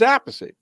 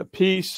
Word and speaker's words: Appice: So it was Appice. That's what my father said.